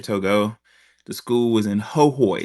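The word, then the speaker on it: Hohoe: library was near Togo the school was in hooy it's spelled ho ho but it's the E is pronounced e ho ho e um and I I noticed I had misconceptions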